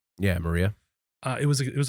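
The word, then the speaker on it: Mriya: The Maria? Yeah, Maria.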